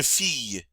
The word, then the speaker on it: fille: Une fille. Une fille. That double L is pronounced like a Y.